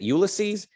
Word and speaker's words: Ulysses: reading and discussing oh you want me to pronounce this ulysses ulysses is it ulysses u l y s s e s ulysses